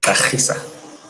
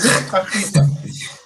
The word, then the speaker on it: Gxarisa: I'm talking, of course, about Unathi Gxarisa, but he'll correct me on that pronunciation of his surname. It is a Xhosa surname.